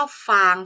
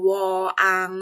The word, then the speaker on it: กวาง: พร้อม คุณ ครู เนี่ย เจอ หลาย คน เลย ชอบ พูด ว่า ฟาง ฟาง ฟาง ไม่ ใช่ นะ คะ จะ ต้อง ออก เสียง ว่า กว า ง งง กวาง ค่ะ ต่อ ไป นะ คะ